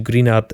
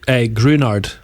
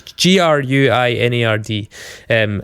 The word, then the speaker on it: Gruinard: As I mentioned, Ian Rankin incorporated the Greenard. Is it Greenard? Is that how it's pronounced? Wait, I always knew it as Grunard. Just Grunard. Right, yeah. Sorry, it's Gruinard.